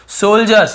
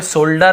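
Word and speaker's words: soldiers: हिम, सम यानी कुछ, सोल्जर्स यहाँ पे सोल्डर ऐसे नहीं पढ़ेंगे, डी नहीं पढ़ेंगे, ज उच्चारण होता है।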